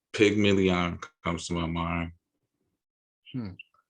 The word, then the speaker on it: pygmalion: this word called pygmalion comes to my mind. Hmm. I believe you spell it PYG Like million. pigment.